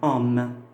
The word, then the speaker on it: homme: Et si maintenant j'ai un H muet, comme ici, homme. Alors, homme, c'est un H muet parce que je peux dire l'homme.